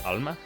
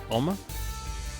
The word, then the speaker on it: Alma: She is Hispanic, and her name is Alma, as in love in Spanish. But for whatever reason, I say Alma. I kind of reduce the accent a little bit.